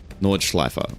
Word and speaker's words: Nordschleife: Schleif with an I in the middle, as in I am, and the ending E as in apple. Nordschleife.